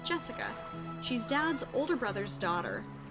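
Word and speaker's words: 朱志香: Anyway, this is pronounced Jessica.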